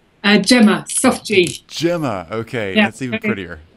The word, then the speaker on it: Gemma: how are you doing doing very well it's pronounced gilma am i right and gema gema okay that's even prettier that's better that's